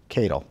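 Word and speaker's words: Katyal: anti-trump activists Neil Cadle Cattell Kate it's k80 yal Kadel that's how i pronounce it he wants to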